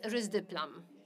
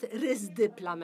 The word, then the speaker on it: risdiplam: The second approved drug, which works on SMN2 gene, is risdiplam. I have to get used to this name because in Poland it is pronounced risdiplam and not risdiplam.